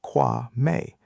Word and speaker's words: Kwame: It's pronounced Kwa May."